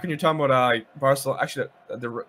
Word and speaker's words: Barcelona: you're talking about uh barcelona actually the correct pronunciation it's uh barcelona barcelona yeah it's a bit of a lisp barcelona there's big pronunciation